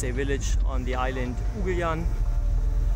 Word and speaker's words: Ugljan: Ugljan, or Ugljan, how the locals say, is the closest island from Zadar, and we were really surprised by the beauty of this island.